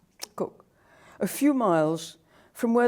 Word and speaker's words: Kuk: of Papua New Guinea called Cook, and it's spelt K-U-K, Cook, a few miles from where the first Australians to come to Hagen in 1933 set up camp.